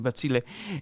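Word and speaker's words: Bazille: Like I mentioned, we are going to be covering Zebra, Basil, especially Basil because Batzile, I need to pronounce it properly, Batzile.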